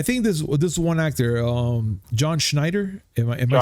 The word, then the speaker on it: Schneider: because look, I think this one actor, John Schneider, am I saying it right? Schneider, yes.